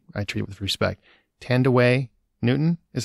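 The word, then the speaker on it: Thandiwe Newton: make sure i i treat it with respect tandaway newton is how it's pronounced now and her character is watts and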